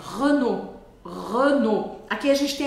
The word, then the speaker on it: Renault: tem alguns pontos legais primeiro é o som do e e eu sei que você vai pensar assim meu Deus tem o r em francês mas aqui o r não é um grande desafio o desafio é o e porque a maior parte das pessoas vai querer falar Renault Renault O bom é que